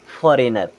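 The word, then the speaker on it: foreigner: अब इसे पढ़ेंगे असाइन फिर यहां पर देखें आई के बाद जी आ रहा है यानी कि जी होगा हमारा साइलेंट और यह क्या हो जाएगा फॉरेनर क्या हो जाएगा फॉरेनर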